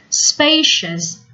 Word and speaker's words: spacious: hung on the walls spacious make sure that you pronounce cio us with one sound or one syllable only chest not Shias ideal